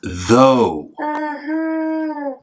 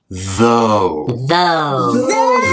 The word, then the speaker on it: though: word no beverly it's though everyone say it with me though though so what does o-u-g-h sound like yes is it o that's right it sounds like o o alright then what